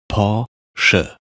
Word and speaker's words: Porsche: not right porsche is just the american nice pronunciation they said both are correct now paul sure